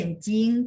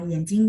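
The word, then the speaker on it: 眼睛: Yenjing de jing, dia bacanya jing nada 1. Cuman kalau digabung sama yenjing karena dia benda biasanya rata-rata dibaca nada 5.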